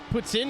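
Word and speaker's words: poutine: so I just assumed Puttin is how you pronounce poutin properly you know yeah God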